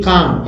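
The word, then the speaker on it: calm: क्रिया ही है अब देखिए काम एल साइलेंट इसम काम अनिश्चितता अनिश्चय संदेह या सुरक्षा को बोलते हैं क्या बोलते हैं काम क्या बोलते हैं काम एल साइलेंट है क्या है एल साइलेंट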